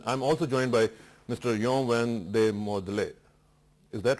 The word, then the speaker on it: Jean Van Mordel: Yon Van de Modele. Is that right? That's correct, sir. Thank you. Am I pronouncing well?